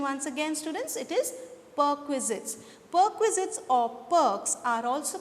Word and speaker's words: perquisites: I'll repeat the pronunciation once again, students. It is perquisites.